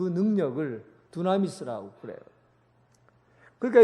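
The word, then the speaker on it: δύναμις: 사용된 능력 이라는 말은 두나미스 라는 단어를 써요 이 둔한 있으라는 말과 영어로 다이나마이트 비슷하죠 발음이 둔한 있으라는 말해서 다이나마이트 하는 말이 나온 겁니다 폭발 하는 능력 그 능력 이라는 말은 바로 이 두나미스 에서 나온 얘기에요 큰돌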